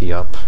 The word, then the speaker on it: Iop: I started with a strength IOP and or strength yop as some people said I should pronounce it and I didn't really